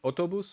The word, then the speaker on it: אוטובוס: Is it autobus or autobus? Autobus, right? First, stress on the first.